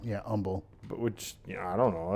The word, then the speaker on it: Humble: Like there's a town in Texas called Humble, but some people pronounce Umble. Yeah. Don't pronounce I've always like heard Humble. Yeah, Humble.